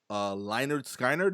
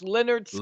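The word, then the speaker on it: Lynyrd Skynyrd: Florida being Florida segment, Florida man wanted for stealing a trove of Leinard Skynyrd, is that how you say it? Memorabilia? No, that's Leonard Skinner.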